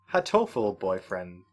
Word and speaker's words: Hatoful Boyfriend: Halo full boyfriend. No, it's Hatoful boyfriend.